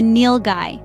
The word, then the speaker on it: Nilgai: today we're diving into the world of the Neil Guy an intriguing creature that Sports enthusiasts might not be familiar with the nil guy pronounced Neil guy is the largest antelope in